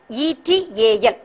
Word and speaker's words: et al: and within square bracket use the word ETAL, which is pronounced as et al. Et al means it's nothing but and others. It's et al is a French word.